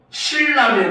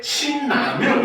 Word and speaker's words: 신라면: 신라면 이럽니까? 아니죠. 대부분이 어떻게? 신라면 이럽니다. 알겠죠? 지금 신, 니은 받침 뒤에 라, 리을이 왔는데 오히려 이 경우는 신라면이라고 하면서 비음화가 일어나고 있죠.